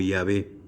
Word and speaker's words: Yahweh: Y entonces, ya traducido, ya suena como Yahweh. O también puede sonar como Yahvé. Y Abé. Como si pronunciáramos con I latina.